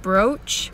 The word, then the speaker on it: brooch: Now say home and rose. This is the same sound that you hear in brooch, which isn't a very